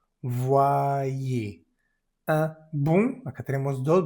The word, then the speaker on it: envoyé: Aquí tenemos la en n. Es una vocal nasal. Se dice, envoyé, envoyé.